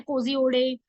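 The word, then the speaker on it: Kozhikode: और अभी ये न्यूज में इसलिए है क्योंकि केरला का कोझिकोडे, इसे कई बार अलग अलग प्रोनाउंसिएशन से भी जाना जाता है, कोजिओडे, मतलब अलग अलग जगह की प्रोनाउंसिएशन है।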